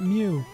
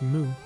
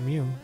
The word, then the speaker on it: Mew: being idiots and just chanting like moo not Mew and uh you know like we were picketing